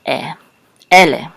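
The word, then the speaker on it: אֵלֶּה: So the accent is on ele.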